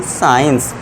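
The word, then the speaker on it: science: अब हमारा सी साइलेंट हो जाएगा। उसे क्या पढ़ेंगे हम? साइंस। इसका हम साउंड नहीं देंगे।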